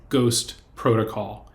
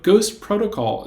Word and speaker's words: GhostPRTCL: The second Chang Award is for fall 2021, and it goes to Ghost Protocol. It's spelled Ghost, PRTCL. But Ghost Protocol is an important tool